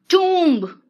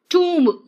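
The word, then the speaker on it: tomb: टूम्ब, टोम नहीं है ये, टूम है मतलब कब्र। टूम्ब, ऊ है प्रोनाउंसिएशन देखो।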